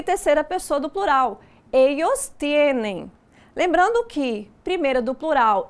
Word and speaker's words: tienen: Percebem que a pronúncia não é tienen, é tienen. Então, termina com N. Então, todos os verbos na terceira pessoa do plural terminam com a letra N e não com a letra M.